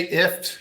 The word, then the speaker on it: IFTTT: we say we say if it's a kind of like gift without the g um but we we don't get too upset when somebody pronounces it differently or says ifttt we've got three g's